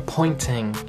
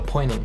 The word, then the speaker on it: pointing: Ou então, se você quiser falar na pronúncia britânica, pointing, que ele fala o T mais forte. Pointing. O americano já tira o T e fala pointing. Então, pointing quer dizer apontando.